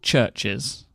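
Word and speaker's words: CHVRCHES: it's by a band called churches but churches is spelt with a V instead of a u okay okay and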